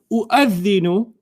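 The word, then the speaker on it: أُؤَذِّنُ: So you don't, if this hamza was written by itself, you'd read it the same way. Okay. Okay? So the waw doesn't even count anymore in your pronunciation.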